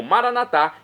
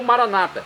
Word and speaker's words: Maranatá: E agora eu clamo Maranatá, do aramaico, dialeto de Jesus, ou Maranata, como dizem nossos irmãos separados, os evangélicos ou protestantes. Não importa a pronúncia, o significado é o mesmo.